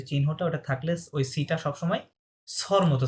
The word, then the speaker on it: très: The means হচ্ছে very, ওকে? Very. Very কি বলে? থে, the. Okay, S silent.